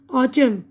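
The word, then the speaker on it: autumn: है अब यहां पे एन की आवाज साइलेंट है ऑटम पतझड़ कंडम मजम्मत करना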